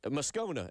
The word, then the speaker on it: Moscona: Uh, Moscona is how we say your last name.